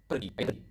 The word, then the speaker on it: pergi: So as you can see, I pronounce the R quite clearly. So it's kind of like Spanish. If you speak there, I think you will notice that Indonesian pronounce the R quite similar to Spanish language.